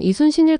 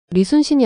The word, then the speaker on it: 이순신: 당신이 말하는 건 이순신일 겁니다. 리순신이 아니라 발음이 조금 다르네요.